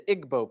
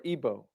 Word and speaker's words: Igbo: You have the Igbo people, or Igbo, pronounced either way.